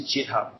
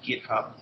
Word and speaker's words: GitHub: We use GitHub. Jacob. GitHub. How do you spell that?